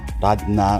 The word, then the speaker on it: Rad Na: Điều này được đánh vần là "Rad Nar" - phát âm là "Lad-Na" hoặc một cái gì đó tương tự.